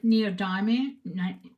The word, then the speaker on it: neodymium: I think it's neodymium.